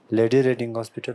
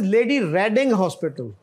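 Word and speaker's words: Lady Reading Hospital: जी लेडी tongue हॉस्पिटल लेडी रेडिंग हॉस्पिटल this लेडी रेडिंग हॉस्पिटल this is the largest हॉस्पिटल इन in pure और हमारे media वाले काफी miss pronounce करते हैं इसको this लेडी रेडिंग हॉस्पिटल एंड इट वास फ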